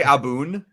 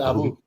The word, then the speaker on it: Abu: Did you say Aboon? I said Abu. Oh, it sounded like you said Aboon.